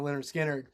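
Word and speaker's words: Lynyrd Skynyrd: try to help people with it oh okay leonard skinner did that album was like 75 or something that it's pronounced you know leonard skinner oh yeah yeah that's pretty cool i kind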